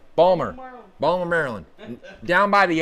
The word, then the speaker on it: Baltimore: I'm in Baltimore yeah Balmer Balmer you got to say it right Balmer Baltimore Maryland down by